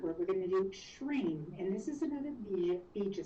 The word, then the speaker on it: shreem: We're going to do shreem. And this is another bija sound. And it's spelled, you would pronounce it S-H-R-E-E-M, shreem.